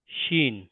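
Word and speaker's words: شين: scene তার পরবর্তী alphabet শিন শিন উচ্চারিত হবে শিন জীবের মাঝখানটা উপরের তালুতে টাচ করবে শিন শিন পরবর্তী অ্যালফাবেট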